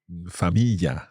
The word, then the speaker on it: famiglia: And Silvia had a specific feature of Le Marche when it comes to pronouncing the y sound, which is pronounced as y instead. So she would have said figlio.